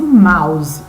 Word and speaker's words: mouse: dessa forma a pronúncia escreve-se mousy mas fala se Mouse OK e ele é